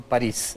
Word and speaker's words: Paris: Oiga, ¿su apellido se pronuncia París como la ciudad? Sí. ¿Y por qué todos le hemos dicho París durante todo este tiempo?